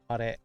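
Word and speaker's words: 彼: Kare.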